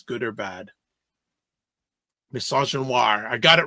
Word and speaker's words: misogynoir: How do you pronounce it? Misogynoir. Misogynoir against Harris.